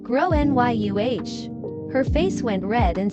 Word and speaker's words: Gráinne: She asked what I meant and I said, "Well, in Ireland, they typically pronounce it like grow NYU."